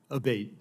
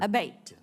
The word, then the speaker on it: Abate: We've heard it pronounced 3 different ways today in the hearing. Abate, Senator. Abate, okay.